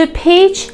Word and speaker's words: pitch: to pitch in بچه این ت پرونانس نمیشه، خوانده نمیشه، به معنی کمک کردن یا همکاری کردن با کسی هست.